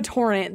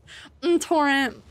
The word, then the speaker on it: Torrent: to play a mage it's pronounced M torrent The M is invisible torrent torrent torrent arise now